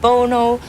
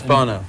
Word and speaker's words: Bono: Und zurück bei Fast Forward und ich bin hier in Dublin mit Bono und Larry Mullen.